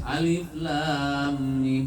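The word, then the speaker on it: الم: Alif lam mim. Yang paling panjang ditahan adalah mim.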